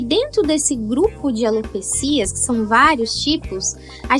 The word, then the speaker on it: alopecia: é a pronúncia correta eu gosto de alopecia sem sem o acento né então alopecia essa